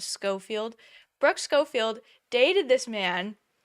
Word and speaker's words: Schofield: uh Brooke scoffield and I think I pronounced her name wrong a while ago her name is scoffield Brooke scoffield dated this